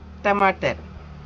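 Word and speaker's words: टमाटर: நம்ம சொல்றேன் பாருங்க டமாட்டர். இந்த ட ட டமாட்டர் முன்னிக்கு டமாட்டர் இந்த இது வந்து நம்ம தமிழ்ல உச்சரிக்கிறது கிடையாது.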